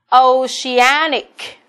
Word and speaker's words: oceanic: Oceanic là trọng âm 3. Đó, trọng âm rơi vào A, đứng đằng trước đuôi ic.